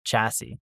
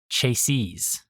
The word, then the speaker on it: chassis: Chiy was I know a mispronunciation I made after I learned that the proper pronunciation was chassis. And I think I said it in the concept of chasees rather than chassis. In plural, I said chase.